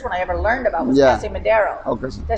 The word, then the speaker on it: Casa Madero: Casa Madero. okay. Did I say it right? Casa Yeah, Madero? Casa Madero, yeah.